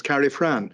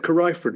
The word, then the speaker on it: Carrifran: suppose a more correct pronunciation is Carrie Fran but somehow we've always said carifeford which is what the local farmers say anyway I thought that